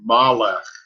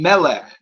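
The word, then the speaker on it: מלך: So it sounds to me like you're saying Malech. Oh, it should be Melech. It's Melech.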